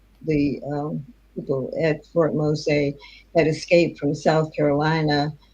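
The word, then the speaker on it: Mose: uh and I wrote a book called Fort Mosa.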